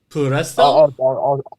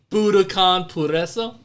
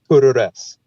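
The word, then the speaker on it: Budokan Puroresu: Did I say it correct? Puresto? I'll teach you how to say it. It's all right. Okay, let's do it. In 5, 4, 3, 2. Budokanpuroresu. Puroresu. Budo what? Puroresu. Puroresu. I got it. Budokanpuroresu. There you go.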